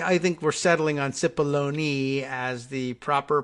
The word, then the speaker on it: Cipollone: know that they I think we're settling on SIPP baloney as the proper pronunciation see Robert should have sent Alito he